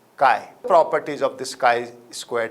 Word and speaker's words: chi: denoted as Kai Square where Kai is a Greek L and I'm sure you know it can be pronounced as Kai properties of this Kai